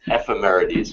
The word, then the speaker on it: Ephemerides: Ephemeris for Ephemera. Singular, yes. Ephemerides for plural.